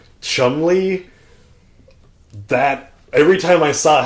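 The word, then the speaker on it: Cholmondeley: that old English kind of, like, spelling and pronunciation. Chumley, that...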